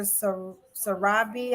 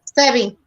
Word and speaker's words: Sebi: Sarabi, I want to say, am I saying it right? Sebi, Dr.